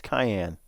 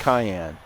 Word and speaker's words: Cayenne: Do they pronounce it Cheyenne? No, it's Cayenne. It's the Porsche Cayenne.